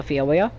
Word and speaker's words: Phiomia: I've been pronouncing this right. It's called a Phiomia.